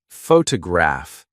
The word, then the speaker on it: photograph: For example, photograph noun is stressed on the first syllable, but photograph I see adjective is stressed on the third.